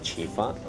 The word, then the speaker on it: Chifa: So in Mandarin usually when you say let's eat rice, you say 吃饭. So I think because they couldn't pronounce the N at the end of 吃饭, so that's why they call it Chifa here in Peru.